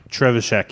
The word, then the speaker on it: Trzewiczek: This is a cooperative adventure game from designer Ignacy Trzewiczek, Trzewiczek, yes.